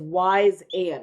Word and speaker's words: Wyzant: And the other company is Wise and. What a cute name. But it's spelled really funky.